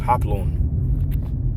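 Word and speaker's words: ὅπλον: All right, this word weapons here in this in the scripture in the Greek is pronounced hoplon. All right. Hoplon or Hoplan or Hoplan. Strong G3696. Hoplan. Hoplan. All right. So, that word is pronounced hoplan.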